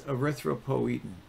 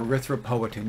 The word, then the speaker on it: erythropoietin: And this hormone is erythropoietin, okay, or erythropoietin. You'll hear it pronounced both ways.